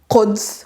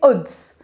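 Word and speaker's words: قدس: We don't say Quds, which means Jerusalem. We say Uds.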